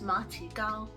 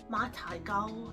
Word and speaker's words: 馬蹄糕: The Chinese name for this is ma ti gao, at least that's how you say it in Mandarin. Cantonese, ma tai gao.